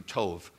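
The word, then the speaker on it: טוב: made he said was told it pronounced in Hebrew Tov everything he made was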